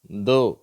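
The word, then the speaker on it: though: காஃப் ரஃப் இந்த வார்த்தையில வந்து அப்படியே சவுண்ட் இல்லாம உச்சரிப்பே இல்லாம போயிடுது தோ சரியா அவ்வளவுதான் இந்த முதல் மூணு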